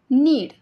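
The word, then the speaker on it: knead: नीड नीड means मळणे याच्यामध्ये के silent आहे के एन इ ए डी नीड म्हणजे मळणे आय आय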